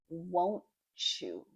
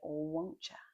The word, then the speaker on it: won't you: Notice my pronunciation, the native speaker pronunciation. Won't you? Won't you? You could even say won't ya with a CH instead of the TY there. Won't you? Like, achoo. So, you'll share those cookies